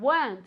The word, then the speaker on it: weren't: Again, weren't, okay? I never, ever, ever want to hear weren't. It's just one syllable.